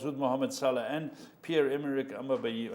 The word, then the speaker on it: Aubameyang: He's 17 goals with Mohamed Salah and Pierre-Emerick Aubameyang.